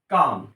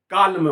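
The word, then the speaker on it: calm: लिखते हैं काम शांत काम लेकिन यहां पर एल साइलेंट है हमने काम बोला ना के कालम बोला काल बोल रहा हूं तो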